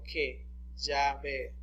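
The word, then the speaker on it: Yahweh: días de la biblia el nombre era pronunciado como que llave y aquí dice yo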